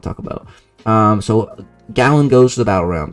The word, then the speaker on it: Galan: goes to the or I think it's gallon like a gallon of milk that's how you say his name gallon goes to the